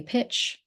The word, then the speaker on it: Pitch: My name is Pitch, and that's pronounced like why pitch. Why did you pitch that ball?